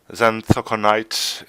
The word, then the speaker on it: Xanthoconite: And we have called the beast the Xanthoconite. I think that's how I'm sure it's pronounced. We did end up checking that. Bit of an interesting thing about that name. Xanthoconite is indeed a gemstone,